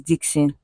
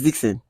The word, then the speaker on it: Dxn: Dxn is Dixon. Yeah, it's Dixon. Yeah, there's the way you. Okay, I sounded like how did I sound? Dixon.